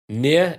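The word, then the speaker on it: NieR: the the neo games as i spell it n-i-e-r the what games near is it automatically yeah yeah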